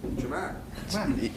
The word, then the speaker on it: Ja'Marr: Jamar.